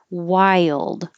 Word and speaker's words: wild: your lips core wild this word looks so simple but it's more like saying while while you're waiting with a d wild and you're really making y i your tongue is rising and then it slides down to make a y to go to the l so it's almost two parts you don't have to say y yield like super strong just let your tongue slide and blend together but you have to